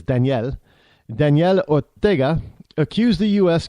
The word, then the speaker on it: Daniel: on stage Nicaraguan president Danielle Orga I know we say Daniel but he says Danielle Danielle Orga accused the